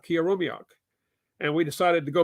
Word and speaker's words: Killarumyoq: Oh, actually, let's hear your pronunciation. Killarumyoq. Killarumyoq.